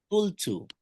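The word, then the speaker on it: قُلْتُ: Qultu, qultu, qultu.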